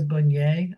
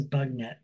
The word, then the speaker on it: Bugnet: It's a fancy rugosa called Teresa Bunyer, I think is how you say it. I hate to think that it's actually Teresa Bugnet, so I'm going to say Bunyer.